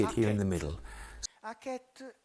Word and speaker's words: Akhet: how they were written, but how they are pronounced. Akhet. Akhet is a hieroglyph. You see it here in the middle. Akhet è un geroglifico, lo vedete qui nel mezzo.